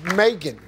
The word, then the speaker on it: Megan: it's Megan. It's Megan. Megan. Just put a little Southern drawl to it. Megan. Megan. Well, Megan rhymes with bacon.